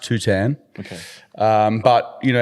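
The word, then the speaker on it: Tuhtan: It's it's pronounced Tutan.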